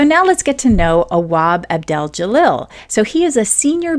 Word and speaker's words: Awab Abdel-Jalil: I see I said it wrong already. Look at that. Awab Abdel-Jalil. There we go.